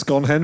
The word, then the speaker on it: Sconehenge: ago very cool uh sconehenge is that as in scon it's pronounced scon hen that's correct that's a